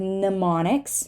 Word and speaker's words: mnemonics: found in these words in the word mnemonics right mnemonics we're not going to say this m and in a double